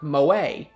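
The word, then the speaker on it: 萌え: Yeah, oh yeah, if you guys are wondering, this word, it might just look like the name Mo, but in Japan it's pronounced moe, which is a type of anime art style.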